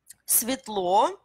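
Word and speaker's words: светло: Svetlo, да, tout ce qui est comme Svetlo, c'est clair. Svetlo, Svet, hein, Svet, lumière. Hein? N'oubliez pas que c'est S, jamais Z.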